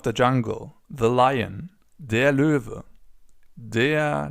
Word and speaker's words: Löwe: As you can see, this O letter with the 2 dots on top is pronounced Ö. Ö. You can find more about that in our video on the Umlaute, Ä, Ö and Ü. So for now, it's just important that the animal is pronounced Löwe. Up next, we have the snake, die Schlange.